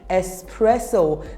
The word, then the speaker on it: espresso: espresso repeat after me espresso the X in this word is pronounced as s so it will be espresso I need an espresso